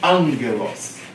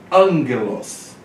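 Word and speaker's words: ἄγγελος: Então vem angelos. Palavra angelos. Tem dois gamas juntos, ó. Então a pronúncia é angelos. Tá? Esse aqui se torna um N e esse aqui continua G. Então fica angelos.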